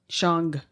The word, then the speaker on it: Shang: Shang.